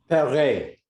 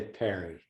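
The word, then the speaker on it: Paré: I heard Steve Olivas pronounce your name differently. Perret. Okay. With an accent on the E. Okay, and that's the correct pronunciation.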